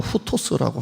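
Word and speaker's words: οὕτως: 발음으로 따지면 헬라어로 후토스라고 하는데요.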